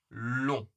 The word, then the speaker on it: long: Par contre, ici, long, long. C'est beaucoup plus fermé.